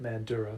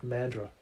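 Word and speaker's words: Mandurah: over you calling it mandura, but yeah. Is it is it mandura? I'm I'm sorry. I I think you like have to completely get rid of a syllable. It's like mandra.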